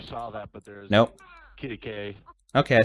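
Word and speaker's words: Quitaque: Kittikay.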